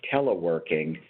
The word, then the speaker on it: teleworking: 99% of our staff teleworking, that the accent in that word is on the last syllable, work.